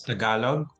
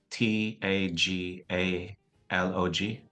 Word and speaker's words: Tagalog: name again of the language in Philippines it's Tagalog so it's spelled uh t a g a l o g Tagalog Tagalog okay so what is your favorite